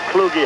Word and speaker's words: Kluge: Craig Kluge. I think they pronounce his name Kluge, however. And they do.